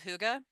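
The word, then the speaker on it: hygge: So they have things I'm sure you've heard of huga, which is the way you pronounce the h y g.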